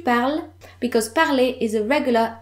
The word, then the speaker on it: parles: Tu parles. Je parle. Tu parles. Both pronounce the same, but notice the S at the end of tu parles, because parler is a regular ER verb.